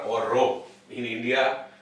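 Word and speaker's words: rho: for r r or Row in India this is popularly known as R so I am abated to pronounce it as R this is actually row r h o plus or minus .9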